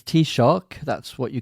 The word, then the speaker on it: Taoiseach: Okay, so it's Taoiseach, that's what you call the Irish Prime Minister.